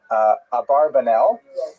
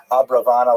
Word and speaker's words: Abravanel: Oh, I should mention, by the way, many people pronounce the same Abarbanel, and that's because of the, it's much easier, as Stephen says, it's much easier to rhyme the song to the name Abarbanel, if you know what I'm talking about, right, with schlock rock version of Abarbanel, but it's most likely pronounced Abravanel or Abrabanel.